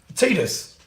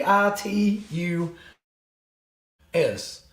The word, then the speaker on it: Titus: cuz I didn't realize I've been pronouncing one wrong for I don't know how many episodes tetus tetus t t i t u s tetus but it's Titus apparently but I'm reading it